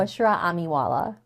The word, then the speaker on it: Bushra Amiwala: Take and Bushra, how do you say your name so I don't want to mispronounce it again? Bushra Amiwala. Bushra Amwala.